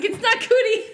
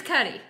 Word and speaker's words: Cudi: I'm old too, so it's Cuddy or Cootie. It's not Cootie. I'm sure it's Cuddy.